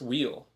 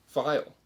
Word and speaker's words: Vile: time it's not pronounced wheel it's actually supposed to be pronounced vile you know like the port of vile or vialism so you tell me